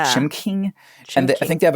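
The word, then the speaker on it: Chimcking: with, and I never know how to correctly pronounce this restaurant, I'm going to be honest. Chim King. Chim King. It's like C H I M C K I N G. Yeah, Chim King.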